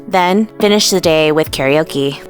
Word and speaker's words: karaoke: finish the day with karaoke, or how the locals say it, karaoke.